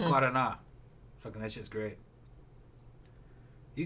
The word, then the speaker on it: Guaraná: People mispronounce it as Guaranara. No, it's Guaraná.